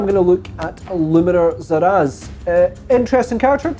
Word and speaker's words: Szeras: So yeah, let's have a look a little bit of lore on Illuminor Szeras. I believe the S is silent. So full disclosure on this one, I did not know anything about Szeras before I began this video.